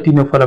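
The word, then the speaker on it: Ctenophora: देखो प्रोनाउंसिएशन नहीं है, सी साइलेंट होता है टीनोफोरा में, सिर्फ टी आता है, देखो तो टे से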